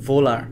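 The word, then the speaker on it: Wöhler: কিন্তু পরবর্তীতে 1828 সালে 1828 সালে ফ্রেডরিক ভোলার, আসলে এটা জার্মান ওয়ার্ডের ডাব্লিউ এর উচ্চারণটা হলো ভি এর মতো, যেমন ভোক্সওয়াগেন।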